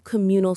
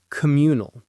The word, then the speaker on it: communal: Or, "When ordering, we're going to do a few communal starters." It sounds very natural and shows you understand the style of eating. Communal. Communal. The stress is on that second syllable.